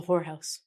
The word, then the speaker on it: whorehouse: a brothel as a whorehouse as you can see we get this word again W is silent there's also someone who